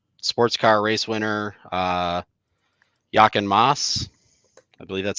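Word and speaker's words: Jochen Mass: Lama driver, um, sports car race winner, uh, Yaken Moss. I believe that's how you say it. Yep, that is. Yep. Yep. Yaken Moss.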